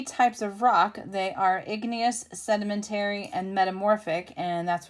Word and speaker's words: igneous: three types of rock so we're gonna highlight igneous that's how you say it sedimentary and metamorphic